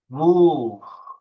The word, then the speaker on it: wolf: Eee, burada eee, kurt kelimesinin okunuşu biraz farklı. Vu. Vu. Bakın, U'yu uzatıyorum. Wolf. Wolf.